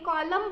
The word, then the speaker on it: column: उसके बाद COLUMN, उसे भी हम एन बोलते नहीं, कॉलम बोलते हैं, बस लिखते वक्त एन होता है बट बोलते वक्त कॉलम कहते हैं।